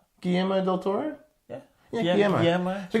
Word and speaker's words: Guillermo: You pronounce the L's? Guillermo del Toro?